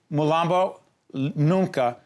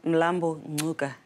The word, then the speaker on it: Mlambo-Ngcuka: said in South Africa there's a pronunciation that I missed what is it yeah lambu Luka okay it's it's the language that is spoken in the black panther film it's closer is that